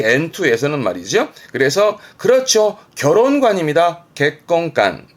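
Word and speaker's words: 結婚観: 객건간, 객건간. 이거는요. 가치관이 되겠습니다. 가치관, 가치관. 뭘까요? 선, 입, 관이네요.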